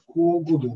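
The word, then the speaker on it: 交互道: え交 5 道ああしまった交互道と読みますけどもえっと交互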